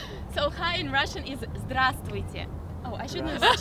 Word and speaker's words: здравствуйте: So hi in Russian is здравствуйте. Oh, I shouldn't have said there. Sorry. Again. So hi in Russian is здравствуйте. Okay. Try to repeat. Grass is here. It's like Oh my god. Здравствуйте.